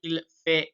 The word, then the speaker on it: fait: En hiver, il fait mauvais. So we don't pronounce the T at the end of fait. We don't say fait. Il fait.